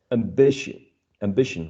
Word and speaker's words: ambition: And the explanation says that if it contains any of these suffixes, stress usually falls on the preceding syllable of the suffix. On the preceding syllable of the suffix. Cautious, phonetics, ambition, right?